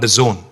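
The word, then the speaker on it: DAZN: and exciting company called The Zone it is pronounced the Zone but it's spelled d-a-z-n now the zone is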